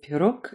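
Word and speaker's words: пирог: So the b at the end of grip is pronounced p, and the g at the end of pirog is pronounced k.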